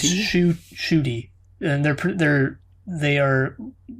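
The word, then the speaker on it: Ncuti: apparently it is actually his first name is pronounced shooty which i never would have guessed while gatwa is simply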